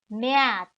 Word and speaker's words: März: March, März. Note that the A in the German language has the umlaut and therefore the pronunciation would be with ä. So März. April, April.